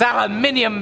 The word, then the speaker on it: aluminium: brit which means that all of you saying i'm pronouncing it wrong you've got it wrong it's aluminium baby the reason i'm using